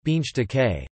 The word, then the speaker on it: Bundestag: the Bundestag German pronunciation beans decay federal diet is the German federal parliament it